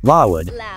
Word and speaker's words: LLOUD: With a gleam of pride in her eyes, Lisa emphasized each letter, playfully elongating the pronunciation, Lawood.